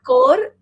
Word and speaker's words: Thakore: Tor e is silent.